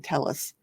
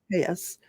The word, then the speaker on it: Telles: the case of Robert tus I've been saying Tellis he saids tus uh state of Nevada versus Robert Tas for